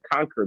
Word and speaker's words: Concour: So as you're talking, so I have this thing I call the Conquer method, right? But it's spelled CONCOUR, which is a combination of confidence and courage.